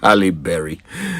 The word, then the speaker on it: Halle Berry: Ah, Halle Berry.